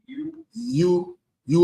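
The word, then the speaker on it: ewe: How you pronounce it? Ew. You u lamb.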